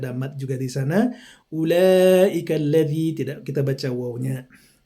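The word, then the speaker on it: أولئك: Kemudian surat Al-Baqarah ayat 16, di sini ada bacaan gharibnya ulaika. Jadi ada ula, wawunya tidak kita baca ya. Tidak ada hukumnya di sana. Jadi kita lanjut langsung saja, tidak ada mat juga di sana. Ulaika alladzi, tidak kita baca wawunya.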